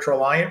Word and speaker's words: Traliant: And remember, Traliant rhymes with compliant.